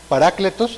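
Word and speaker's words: παράκλητος: En griego es, me corrigen si estoy mal, parácletos, así se pronuncia, hermano, ¿sí?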